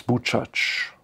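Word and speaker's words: Buczacz: Und genau dieses Nebeneinander von Idyll, Alltag und einem Leben und Sterben im Ghetto, das analysiert Omar Bartov, dessen Mutter aus Bucac, so spricht man es aus, aus Bucac stammte.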